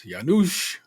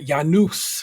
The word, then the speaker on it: Janusz: It's Janusz. Not Janus. It's Janus. I want to get his pronunciation right.